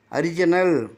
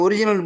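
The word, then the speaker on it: original: oppress துன்புறுத்து அரிஜினல் அரிஜினல் இதே முன்னால ஒரிஜினல்னு படிச்சேன் இதை அரிஜினல் படிக்க சொல்றாங்க ஒரே ஸ்பெல்லிங்க ஒரிஜினல் என்றும் படிக்கணும் அரிஜினல் என்றும் படிக்க சொல்றாங்க டிக்சர்ல போட்டிருக்கு அசல் ஒரிஜினல் என்றாலும் அசல் அரிஜினல் என்றாலும் ஏன்னா ஓவுக்கு ஓ சவுண்ட் இருக்கு ஆ சவுண்ட் இருக்குன்னு அதுக்காக வேண்டி ரெண்டுமே படிக்கலாம்னு சொல்றாங்க அப்ப அடுத்த கட்டத்துல பாருங்க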